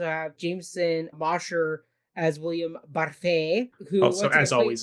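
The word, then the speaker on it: Barfée: Like Olive and Barfay there. Yeah, Barfay. You pronounced it correctly.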